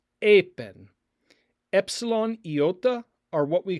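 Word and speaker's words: εἶπεν: and it is pronounced apen, apen. Epsilon, iota are what we call a diphthong here. They are two vowels that make one sound, like a in the word eight, eight.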